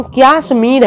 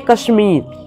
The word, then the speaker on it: कश्मीर: तुम लोग इस बात को स्मरण रखो, अंग्रेजी भाषा कश्मीर शब्द का उच्चारण क्याश्मीर है और संस्कृत में कश्मीर।